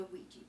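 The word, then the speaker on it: Weejee: So I would like to share with you my favorite app, and that is the Wejee board app.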